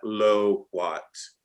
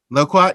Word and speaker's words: loquat: right absolutely yeah so Jordan Carrie at low Watts did I say it correctly Michael loquat yes because if it's a low